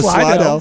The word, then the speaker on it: Slidell: The proper pronunciation is Slidell.